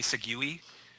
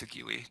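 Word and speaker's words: segue: really good one and did you like my segui that was so good um i know it's not pronounced sugue don't leave a comment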